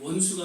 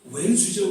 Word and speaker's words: 원수: 원수가 아니라 왼수죠, 왼수.